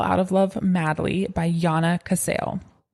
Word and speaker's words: Jana: of Love Madly by Jana Cassel. Jana is spelled like J A N A like Janna, but it's whatever culture or language does Jay's as wise.